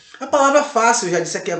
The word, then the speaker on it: fácil: Porque esse I, esse L, ele automaticamente ele faz com que a sílaba ela feche no final. Fácil. Ok? Fácil. C-I-L. Fácil. Então esse A fica em bastante evidência e a palavra fácil ela é acentuada paroxítona. Bônus, mas falamos de bônus,